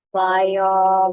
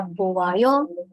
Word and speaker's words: 봐요: Bayo, 맞아요. Benar ya. Cara bacanya bayo, tulisannya bayo. Jangan baca buayo atau tulis buayo.